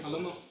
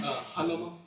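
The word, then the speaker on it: Jalomo: Halomo. Uh say your last name again. Halomo. Uh spell it for the court reporter. Uh J A L O M O. Thank you, Mr. Halomo.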